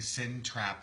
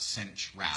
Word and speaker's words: Cinch wrap: I sound like I'm saying sin trap and not cinch wrap.